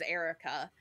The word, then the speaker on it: Airwrecka: But on a news article, it was some girl's name, and her name's Erica, but the way it's spelled, it was AIRWRECKA, Erica.